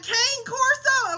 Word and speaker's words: cane corso: You got a cane corso? I'm like, no, I have a cane corso. That's how it's pronounced.